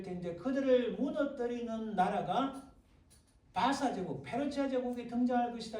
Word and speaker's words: 바사: 이 발음이요, 제가 분명히 말씀드려요. 발음이 영어 발음은 원어 발음은 못 알아보고 흉내를 못 내요. 우리 한글 성경이 원어 발음에 더 가까이 됩니다. 그래서 바사라는 게 페르시아라는 거예요. 근데 영어로 페르시아 하면 이 사실은 바사 이 발음이 안 되는 거예요.